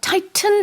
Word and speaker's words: tighten: 여기서 tighten 해도 되지만 이렇게 북미식으로 가운데 T는 좀 잘 안 들리게 Yeah. tighten 이렇게 영국에서도 그러네요. 생각해 보니까 네, 이렇게 발음 많이 하고.